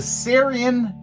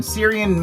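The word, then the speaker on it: Cerean: what I can remember, he is a Syrian, I think that's how you pronounce it, C-E-R-E-A-N, Syrian male.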